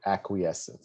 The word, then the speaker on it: acquiescence: make it big right acquiescence so it's ack right if you let me put the wizard i don't know how to put a little dot i'll put a dash so the way you pronounce is ack queen right so you just so